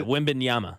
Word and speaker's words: Wembanyama: Is that how you pronounce it? Yeah, Wembanyama.